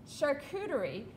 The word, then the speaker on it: charcuterie: And I'm going to say it again, charcuterie, because I'm saying it right, and I practiced it all night because I knew I would butcher it.